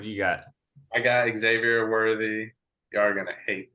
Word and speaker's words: Xavier: Xavier. Xavier.